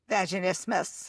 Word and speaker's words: vaginismus: Vaginismus.